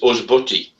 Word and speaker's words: ysbyty: The best one is Hospital, which is Usbuty, which is YSBYTY. So the first two Y's are pronounced U and the third one's pronounced Y.